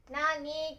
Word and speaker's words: 何: Nó có thể được đọc là "nani" hoặc "nan".